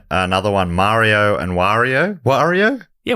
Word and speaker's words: Wario: Wario Mario and Wario a lot of people say Wario Wario but it is Wario I don't know I think it's Wario yeah good rhymes with Mario yeah that makes more